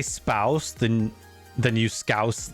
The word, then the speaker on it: Scouse: How do How do I pronounce that word? I want to say scooz.